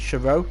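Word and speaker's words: Charouz: I always should think it's actually Charo, because I think the Z is silent.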